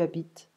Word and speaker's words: habite: The H is ignored in French, we don't pronounce it. And it's like we drop it and we pay attention to the next vowel next to it.